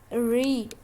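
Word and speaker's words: read: पाना रेड रेड पढ़ना रीड रीड रीड और इनमें से एक अलग है सेकंड फॉर्म इसकी कहते हैं हम उसको रीड स्पेलिंग वही है लेकिन कहते हैं रेड रखना पुट पुट पुट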